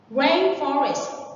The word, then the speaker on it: rainforest: Rainforest. Remember that the stress is on the first one. When you say forest, the stress is on the word form. But when you say rainforest, it's on the rain.